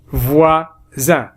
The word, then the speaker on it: voisins: Des petits, des voisins, alors on ne prononce pas S.